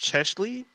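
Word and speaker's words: Cheslie: start with um i i believe her name is pronounced chesley uh chesley christ uh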